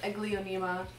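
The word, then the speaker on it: Aglaonema: is my silver bay is my silver bay a glionema and i finally was able to figure out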